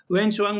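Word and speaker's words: Hiuen Tsang: वेनशंग मैं नाम लिख दे रहा हूं ताकि आपको दिक्कत ना हो। ठीक है? टी साइलेंट है यहां पे।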